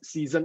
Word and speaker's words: Sisen: then s-i-s-e-n is it can be pronounced as season as well so so actually it's